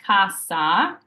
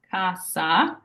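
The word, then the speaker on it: cassa: in English so it's a true s sound like snake so for example the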